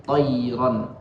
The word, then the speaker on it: طيرا: Kemudian tayran ababil, tayra itu lin ya, alaihi tayra itu memiliki bacaan lin yang harus diucapkan dengan ringan, yaitu dengan ya. Alai tay, jangan alai alai alaihim alaihim, tapi alaihim. Tay, jangan tayran tidak, tapi tayran.